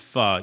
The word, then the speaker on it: pho: Faux is pronounced pho. Yeah, I know that. With a short U sound, not faux.